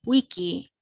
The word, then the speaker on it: vici: conquered when he weedy wiki think about if those words were written with a u at the beginning and it's actually the same sound pronounce a v like the letter u or w somebody had a question